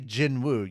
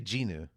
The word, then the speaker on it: Jinwoo: The W is silent. You don't say Jinwoo. You say Jinu.